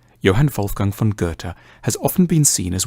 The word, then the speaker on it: Goethe: supposed to say it a safe bet is to start with a hard G on G and end with a t Gerta Johan fulang Fon Gerta has often been seen